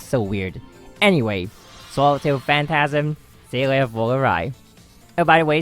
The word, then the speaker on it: Seele: Initially, I was told that the real pronunciation is Seele, like phonetically it'd be Zeeluh, but apparently it's not. I got one of the recent comments saying that it's actually like how the Japanese version pronounces it.